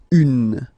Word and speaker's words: un: you have this n then you pronounce it un okay masculine feminine form un okay and then the